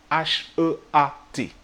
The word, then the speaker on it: heat: C'est très important parce que si tu prononces mal ce mot, heat, tu peux dire plein de choses en même temps qui n'ont rien à voir. Si tu dis juste eat sans le H aspiré, eat, E-A-T, ça veut dire manger en fait.